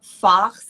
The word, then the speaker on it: Fach: there are what are called fachs, and I'll spell that, that's F-A-C-H, so I'm not saying a bad word right now.